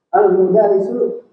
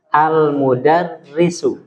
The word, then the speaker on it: al-mudarrisu: Al-mudarisu jalisun. Ya, sekali lagi diperbaiki bacanya. Al-mudarisu. Salah. Al-mudarrisu. Al-mudarrisu. Tasdid di dal. Di ro ya.